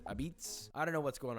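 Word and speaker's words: apizza: number 29 Connecticut which they call this New Haven pizza but they also pronounce it abitz I don't know what's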